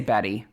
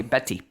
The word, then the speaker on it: Betty: It's not We We would just say Betty. Yeah. Almost as if it has two D's in the middle, but they say Betty.